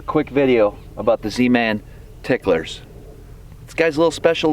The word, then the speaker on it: TicklerZ: I'll be honest, I always called it, I said the Z at the end, like just pronounced it as a Z, and I got reprimanded. You're supposed to pronounce the Z as an S.